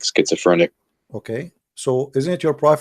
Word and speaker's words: schizophrenic: Schizophrenic.